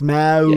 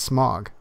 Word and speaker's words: Smaug: It's Smaug. Yes. Smaug. Sorry, I didn't mean to say it wrong. It's Smaug. No, you know what? Considering that it's supposed to be similar to the idea of smog, it's smog.